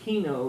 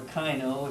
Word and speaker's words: kino: you might wonder what Kino is or Kyo as you prefer it's pronounced both ways this is from eucalyptus